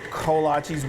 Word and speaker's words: kolache: And they're the largest Czechoslovakian community, they've kind of developed their own style of creating kolaches. We call them kolaches, we've been told that we say it wrong.